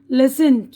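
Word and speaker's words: listen: है अब इसके बादय टी की आवाज साइलेंट है यहां पर देखिए सेंट जल्दी करना लिसन सुनना ऑफें अक्सर सफन नर्म ठीक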